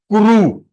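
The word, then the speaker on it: कुरु: It is kuru, not kri.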